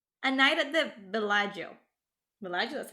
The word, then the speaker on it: Bellagio: Bellagio, that's how you pronounce it.